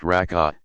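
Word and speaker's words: rak'a: the number of cycles rock a pronounced raka depends on which prescribed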